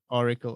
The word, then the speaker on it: Auricle: It's pronounced Auricle, or how is your product? Auricle.